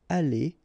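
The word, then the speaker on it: allées: The good thing as usual in French is you will pronounce it ali, ali, ali, and ali. So technically you don't pronounce the final uh you don't pronounce the final s and you don't pronounce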